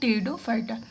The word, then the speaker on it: Pteridophyta: आता है पर क्या टेरिडोफाइटा पी आपका साइलेंट रहता है ठीक है थैलोफाइटा ब्रायोफाइटा